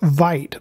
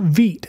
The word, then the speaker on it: Vite: It looks like you would pronounce the word Vite, but it is pronounced Veet as in V-E-E-T.